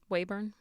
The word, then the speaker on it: Weyburn: It's Weyburn.